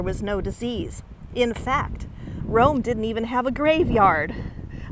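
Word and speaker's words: Rhome: Now, interestingly enough, about 2 miles away from here, there's a town called Rome. It's spelled R-H-O-M-E.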